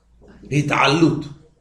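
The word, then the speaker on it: התעלות: Hit'alut. Con Ain. Sí.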